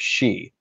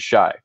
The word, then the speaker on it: Shi: artist and creator of She, which I always pronounced wrong. I don't know if you did that when you were a kid, but I always pronounced it Shy.